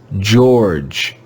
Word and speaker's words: George: leopard this word is george george the letters e o are read as all all george george this is another irregular we